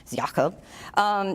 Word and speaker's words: Jakob: Jakob which is spelled Jacob but I looked it up and the proper Indonesian pronunciation I hope Jakob his head of Indonesia's